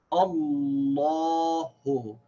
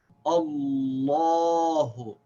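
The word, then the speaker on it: اللهُ: So we say Allahu. And we should also remember that the name of Allah is pronounced with a full long vowel. So we don't say Allahu, we say Allahu.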